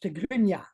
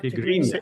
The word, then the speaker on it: Tigrinya: First of all, the language is pronounced Tigrinya, not Tigrinya. Tigrinya.